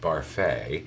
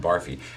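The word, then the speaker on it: Barfée: william barfi who can who insists that his name is pronounced barfey they keep calling him barfi and i was vice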